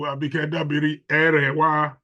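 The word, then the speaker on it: Abike Dabiri-Erewa: The Honorable Minister, the Controller of the Nigerian Immigration Service, and of course, the Chair of NITCOM, our own Honorable Abike Dabiri Erewa, to pronounce it properly.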